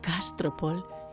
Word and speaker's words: Castropol: Castropol. Con acento en la A. ¿Mm? Y ahora, Castropol, chúpeme los nudillos.